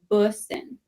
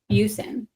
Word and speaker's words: Bussin: No, it's Bussin. Bussin. Like Bush. Yes. Okay. Bussin. No, I'm going to say Bushin. Yeah. So when Alec and I were dating, I called him Busin.